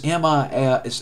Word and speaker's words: Melkweg: I think it's pronounced that in Dutch. It's Melkles. It's Melkweg.